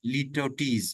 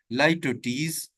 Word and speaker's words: litotes: इसके बाद हमारी जो सेवंथ लिटरेरी टर्म है, दैट इज लिटोटीज। लिटोटीज, मैंने लाइटोटीज भी आप इसे बोल सकते हैं, मैंने प्रोनाउंसिएशन आगे लिख दिया है ताकि आप इसको सही प्रोनाउंस कर सकें। इसकी जो सही प्रोनाउंसिएशन है वो क्या है? लाइटोटीज। तो आपने इसको सही प्रोनाउंस करना है।